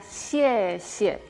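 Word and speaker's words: xie xie: Ejemplo de consonantes vimos ya, por ejemplo, la palabra gracias era xie, xie. Esa X que se pronuncia como sh, de cuando pedimos silencio.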